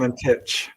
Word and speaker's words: Valentich: Valentich. Okay. Yes, that's it. You got it. I've been mispronouncing it the whole time.